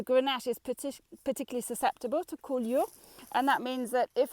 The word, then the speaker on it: coulure: Grenache is really susceptible to what the French call coulure. Coulure is spelled C-O-U-L-U-R-E, coulure, and that means poor fruit set.